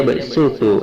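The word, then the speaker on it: يبسط: Shadnya harus dibaca sin menjadi yabsutu dan basto.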